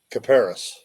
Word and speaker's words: Kuperus: Caparis.